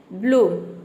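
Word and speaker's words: bloom: रहा है double O तो किसी भी वर्ड में डबल ओ अगर आता है तो वहां पे डबल ओ को हम क्या प्रोनाउंस करते हैं उ प्रोनाउंस करते हैं बड़ी उ है मतलब कि आपको जोर देके प्रोनाउंस करना है डबल ओ प जोर देना है जैसे कि रूट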